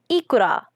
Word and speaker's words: ikura: The word for these plump salmon eggs is therefore represented like this in kana, pronounced ikura. There is an obligatory epenthetic vowel inserted between the K and the R in order to avoid a consonant cluster.